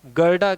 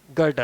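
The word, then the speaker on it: Goethe: तो आप गेदी कह सकते हैं, आप गोएथे कह सकते हैं, आप गाडा कह सकते हैं। ठीक है? तो कहीं आपको गाडा मिलेगा, कहीं आपको गोथे मिलेगा, कहीं आपको गेडी का उच्चारण मिलेगा। और आप इसे गोथे के रूप में समझ सकते हैं। तो, ये इसके सभी उच्चारण हैं। ठीक है? इसलिए, इसका बिल्कुल सही और सटीक उच्चारण गोएथे है।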